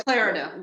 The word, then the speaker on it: Clarida: Clarita, Yeah, Clarida, that's how you say his name. Yeah, Richard Clarida.